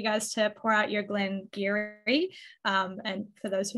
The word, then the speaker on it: Glen Garioch: love for you guys to pour out your Glenn Geary um and for those who haven't tried a Glengarry before it is pronounced Gary because Gaelic is the worst and